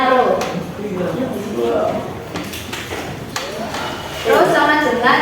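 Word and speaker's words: ρ: Itu P sama dengan M per P. Itu bacanya bukan P ya, tapi bacanya Rho.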